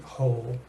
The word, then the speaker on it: whole: the screen but this the W is completely silent in fact you could almost forget that it's there because without it you